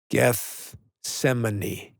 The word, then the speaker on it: Gethsemane: Gethsemane.